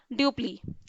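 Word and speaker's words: Dupleix: इसके बाद एक बहुत ही एबल जनरल आया, ड्यूप्ली, ड्यूप्लिक्स इसका नाम है, और प्रोनाउंसिएशन होता है ड्यूप्ली।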